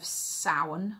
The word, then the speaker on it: Samhain: a celtic um holiday the celtic holiday of sauron which is spelt samhain um as i'm sure